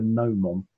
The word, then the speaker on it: gnomon: It was called a gnomon, spelt with a G, bizarrely, because you'd have exactly the same problem.